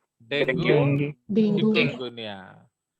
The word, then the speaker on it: Dengue: Actually it इज नॉट डेंगू, उसका pronunciation है dinghy, याद रखना। Dengue. Okay, yes इट इज Dengue. Dinghy, but लोग डेंगू डेंगू बोलते हैं, एक्चुअली वो डेंगी है।